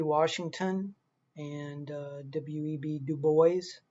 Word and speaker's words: Du Bois: washington and uh w.e.b du bois that's how the name is pronounced like the boys in the hood um so uh this